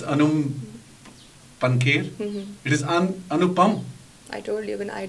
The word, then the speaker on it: अनुपम: कि ये जो फिल्म बनाई गई Kashmir files, Anum पंखेर, am I right in pronouncing? जी, I don't know. Even I don't know. अच्छा, you don't know. जी. You pronounce Anum पंखेर. It is अनुपम.